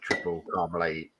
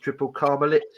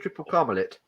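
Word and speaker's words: Tripel Karmeliet: They had one of the head brewers from Triple Carmelet on one of the episodes. And it's actually pronounced Triple Carmelit. Hmm. No, I had it's no not. idea. It is. I've been saying Triple Carmelet, and he's going, yeah, it's Triple Carmelit.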